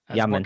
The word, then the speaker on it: Jamin: well, it's spelled Jamin. I know. People should start saying it's Jamin Davis. Not it can't be Jamin because there's no Y in there. Yaman. Ah, Yamin.